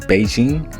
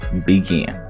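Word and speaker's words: Bigen: Now when it comes to demi-permanent, I'm always using Beijing, but it's pronounced properly Begin.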